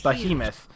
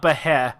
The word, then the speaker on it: behemoth: it here you go this is how you pronounce it behemoth is hyena heavy behemoth is behemoth so it's not be hair it's but he behemoth there you go if